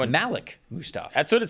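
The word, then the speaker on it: Mustapha: about the Seattle Seahawks I have been texted that it's Malik Musta way and I double checked in their pronunciation guide and that's how they have it there too so okay all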